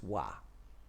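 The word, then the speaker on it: vav: to read begins with the sixth letter of the hebrew alphabet pronounce wa verses 41-48 may your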